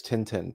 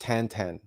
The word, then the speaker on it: Tintin: uh tantan graphic novels you might know him better as Tintin but it's supposedly it's properly pronounced tantan regardless those graphic novels